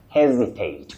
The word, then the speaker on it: hesitate: Now, that verb is quite common in communication, but the S in that word takes what we call the voiced sound Z, like a Z, to hesitate, hesitate.